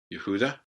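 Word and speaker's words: יהודה: next one is Judah yahuda Judah there's no J sound in Hebrew that's come to us as we've kind of trans transliterated it and then and then moved it into other languages so yahudah the next one is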